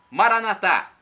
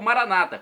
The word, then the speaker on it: Maranata: aramaico dialeto de Jesus Maranata uma tônica na última sílaba como dizemos nós católicos ou Maranata como dizem nossos irmãos separados os protestantes não importa pronúncia o